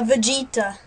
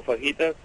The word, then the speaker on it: fajita: A Vegeta.